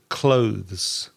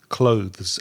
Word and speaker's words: clothes: between your tongue no with your tongue between your teeth to say the word clothes clothes and there's also some